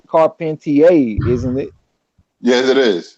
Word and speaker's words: Carpentier: Hop said, I think it's Carpentier, isn't it? Yes, it is. It's pronounced Compartier.